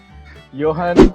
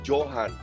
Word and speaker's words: Johan: Tapi kalau di Indonesia kan bacanya Johan. Johan. Tapi kalian bener, Johan. Karena J Yes. itu bacanya Y di Belanda.